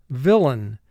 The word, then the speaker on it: villain: Now, the spelling pronunciation for villain is going to be lain. First syllable is vil, 3 sounds. V, I, L. Lain, 3 sounds. L, A, N. Lain. Mark the word. Lain. And again, in pronunciation, normally we say villain, but for spelling, lain.